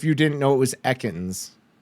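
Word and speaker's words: Ekans: So in my brain, how would you have pronounced it backwards if you didn't know it was echans? E cans probably.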